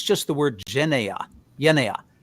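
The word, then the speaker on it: γενεά: Genea is how I would pronounce it. So genea. And you would have to decide in the context what exactly it means there.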